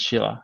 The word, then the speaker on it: Scylla: at the police and he mentioned cylinder and we pronounce it in the same way Philip there's even another way of there was a Korean goddess called Sheila and they love to pronounce us as Sheila and we love it